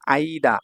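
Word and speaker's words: 間: হ্যা এই 94 নাম্বার যে কাঞ্জি এটা দেখুন আইদা। আইদা মানে হচ্ছে দুটির মধ্যে না বিটুইন। এরকম কিছু। তারপর এটার উচ্চারণে মাও বলা যায়। মা আর চাইনিজ উচ্চারণ হচ্ছে কান।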